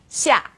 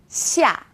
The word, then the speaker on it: xia: Now this sound is somewhere in the middle of SH and S.